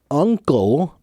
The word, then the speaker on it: uncle: pronunciation of the words uncle and ah angle look at my mouth Alward Uncle uh uh uh small mouth small uh it's not open wide and it's not open uh big okay uh uh uncle